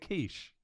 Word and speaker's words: quiche: You call it quiche. Quiche, yeah, exactly. French. So C-H-E in French is she, like that.